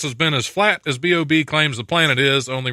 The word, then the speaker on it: B.o.B: that- or No, does it's it B.O.B. stand- It's actually it's- pronounced B.O.B. I mean, B period, O period, B period.